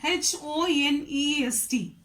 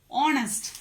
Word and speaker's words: honest: H-O-N-E-S-T. Honest. What is this? Honest. What is the sound for this? Sound is consonant sound or vowel sound? It is a vowel sound, right?